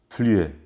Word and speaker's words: Flüe: Flüe se escreve F-L-U-E com trêman em cima do U. Flüe.